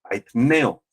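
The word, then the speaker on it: αἰτέω: Peñas es con n hay Neo con acento en la e ineo y esta esta palabra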